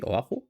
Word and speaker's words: Oahu: It's pronounced like this, Oahu.